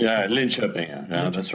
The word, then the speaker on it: Linköping: I pronounced that correctly? Yeah, Linköping.